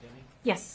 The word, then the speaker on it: Deming: Deming is pronounced Deming? Yes, sir. Could you please spell it? Deming.